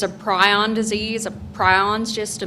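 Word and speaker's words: prion: You're saying pryion? Yes. Uh, pryion. How do you spell it?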